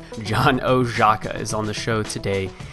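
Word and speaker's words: Oszajca: total baller at what he does uh John oaka I know how his name is spelled but that is how you say his name John oaka is on the show today and John is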